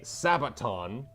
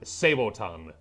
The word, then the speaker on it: Sabaton: It's one of the reasons why we say Sabaton, Sabaton, instead of Saboton. No, it's not. Yes, it is. No, Sabat. It is. There's two different ways of saying it. It's Sabo, which is the French way, and Sabat, because that's where the word comes from.